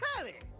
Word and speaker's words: Telly: Then, before we get to what's on my the name's Telly. Rhymes with, whoa, Nelly!